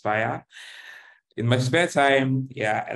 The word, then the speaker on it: Spirē: It's pronounced Spirē.